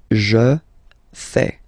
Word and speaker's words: fais: Je fais. Remember, final S not pronounced. Je fais.